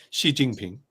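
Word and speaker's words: Xi Jinping: jingping right so she how would you pronounce it Shi jingping right yeah Shi jingping sh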